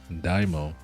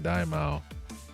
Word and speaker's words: Daimao: Daimo, that's how a lot of people pronounce it, Daimo, but no, I think it's more pronounced this. That's like the actual pronunciation, Daimao.